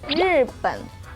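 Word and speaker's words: 日本: Bahasa Mandarin dari Jepang adalah Rippen.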